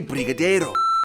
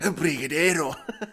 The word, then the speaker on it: brigadeiro: typical candy bar, you have to try a brigadeiro. Why did I say it like that? Brigadeiro.